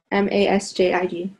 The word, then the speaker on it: Masjid: Masjid. Okay. Yeah, jid, like with the J.